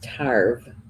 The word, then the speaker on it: Tarbh: So, and how to spell it in Gaelic is Tarbh, but it's pronounced Tarbh.